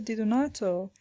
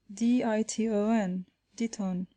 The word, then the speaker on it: Di Donato: and had begun thus, Diton, Diton. The professor at once pronounced the word more distinctly, Di-do-nato, whereupon the child, without